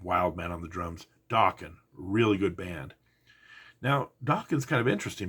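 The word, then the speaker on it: Dokken: was a band called Dawan you know the one that rhymes with Rockin uh one of the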